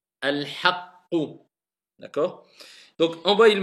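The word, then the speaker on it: الحقُّ: Pas al-haqu. Al-haqqu.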